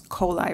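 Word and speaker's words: Kohley: bit of Lyle's history the family pronounces their name coli so it's kolai Road that's all and trusty Duffy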